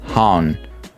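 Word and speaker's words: København: I will wait for, not Haven, we pronounce it Han. Copenhagen. Copenhagen. So it's not even Copenhagen, it's just Copenhagen. Wow, that's such a difference. So everyone in the world says Copenhagen, so they're all completely wrong.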